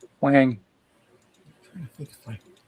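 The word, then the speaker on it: Hoang: But it's spelled H O A N G. So I always said Hong H. But it's Wang.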